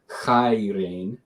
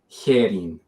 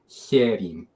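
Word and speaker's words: χαίρειν: Erasmian would pronounce as chairein. It's actually herin, right? And even a little nuance there with the he, you pronounce it slightly more palatal when it's before a front vowel. So herin, right?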